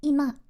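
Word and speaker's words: 今: part itself for example the first kami can be pronounced as imma and some other readings under other under other circumstanc senses.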